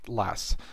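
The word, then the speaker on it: loess: o e SS now I've seen that pronounce a couple different ways one is a and another one is less and I like less so it's kind of sounds like you know your L SS less and what less is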